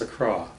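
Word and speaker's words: Accra: Acra Acra I was corrected very quickly it's Acra okay I've never heard it pronounced before and I've always said Acra yeah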